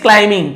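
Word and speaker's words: climbing: While everyone else is sleeping, जब बाकी सभी, एल्स यानी बाकी, इज स्लीपिंग, सो रहे हैं, ही इज क्लाइंबिंग, क्लाइंबिंग, क्लाइंबिंग नहीं बोलेंगे, बी को नहीं पढ़ते, एम बी एक साथ हो तो बी को नहीं पढ़ते।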